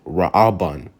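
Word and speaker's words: ראובן: nine you have Ruben in the Hebrew is pronounced raaban raaban all right and it means see it's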